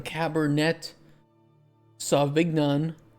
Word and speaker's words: Cabernet Sauvignon: Some Cabernet Sauvignon. That's the correct way to pronounce it.